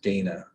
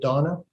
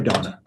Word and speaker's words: Dana: thursday to meet with dana uh that's dana lazeau is that right that's correct i believe she pronounces it donna sorry donna donna i apologize um